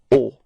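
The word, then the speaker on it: au: have to use is O okay so you write it a but then you pronounce it o repeat or okay and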